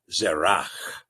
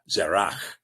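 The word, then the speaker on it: Zerach: uh because there is the more or less the conversation saying that the is not pronounced. So in other words they get a pronunciation version of the word rather than a transliteration form. The transliteration form is going to include the ch zerak zerak.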